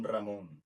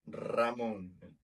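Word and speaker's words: Ramón: A gente pronuncia o R como Ramon. Se vocês falar Ramon, muda totalmente o significado da palavra. Ramon é o nome de pessoa. Ramon é como a gente conhece o presunto em espanhol.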